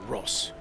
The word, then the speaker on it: Ross: made this character uh he says uh it is it is pronounced Ross stalemate can suck it